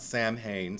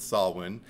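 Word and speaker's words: Samhain: also brings up and he pronounces it correctly not Sam Hayne sorry Donald Pleasants but he calls it sawin and he talks about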